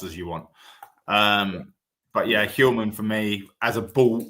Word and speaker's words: Hjulmand: But besides that, as Mark mentioned, there's only one, and that's Hjulmand, Morten Hjulmand, or how they say it in Danish, Morten Hjulmand.